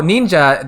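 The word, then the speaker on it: 忍者: So that second character is pronounced like sha or ja as a person. So ninja, that is like a ninja.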